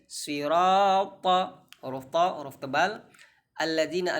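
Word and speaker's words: الذين: Alladzina, alif lam syamsiyah. Dzi, maka digigit sedikit lidahnya. Dzi, ladzina an'amta.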